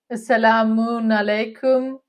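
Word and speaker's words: As-salamu alaykum: Assalamun alaikum. Like you pronounce different way. Like I heard only salam alaikum, but you use salam alaikum. It's a bit different. Yeah, Assalamun alaikum.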